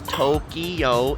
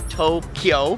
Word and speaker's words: Tokyo: no City known as Tokyo it's Tokyo kind of like two syllables same with Kyo two